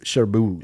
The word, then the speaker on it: Cherbourg: Cherbourg? It's Cherbourg. Cherbourg. Yeah, I always it's pronounce French. it the way the characters in the movie pronounce it.